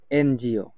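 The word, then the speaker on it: NGO: তারপর রয়েছে abbreviation এনজিও এনজিও এক্ষেত্রেও আমরা দেখতে পাচ্ছি এনটা হচ্ছে কনসোনেন্ট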